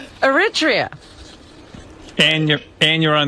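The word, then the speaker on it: Eritrea: How do you pronounce that country? Robin Aritria.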